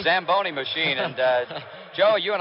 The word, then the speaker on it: Zamboni: high it is it's Italian you should have pronounced it what does it call the samboni Zamboni machine and Joe you and I were talking